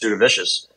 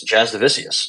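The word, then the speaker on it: Jasudavicius: wrong this entire time I've been saying just Do The Vicious it's Jazz divisius so there we go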